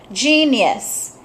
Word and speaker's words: genius: oops I picked two this one genius J J it's a soft G very good so that